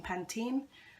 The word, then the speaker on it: Pantene: pen pen 10 well I always pronounce it pen 10 but I hear some people saying Pantene um truly natural hair